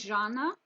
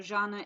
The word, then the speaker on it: Jana: Her name is Jana. This word is pronounced J, as in pleasure. So Jana is allegedly her name.